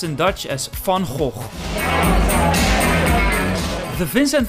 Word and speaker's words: Van Gogh: Dutch painter in history then go which we pronounce in Dutch as fun whole the vincent van gogh museum has 1.5 million visitors per year and